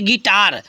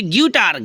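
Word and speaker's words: guitar: यू आई टी आर कहीं कहीं इसको बच्चे गूटर गटर ऐसे थोड़ा सा पढ़ते आधा ग लगा के बट अगर गधा ग लगा के नहीं आप पूरा ग लगा के पढ़िए इसको फर्स्ट क्लास आराम से पढ़िए गिटार बोलिए आई साइलेंट हो जाता है तो हो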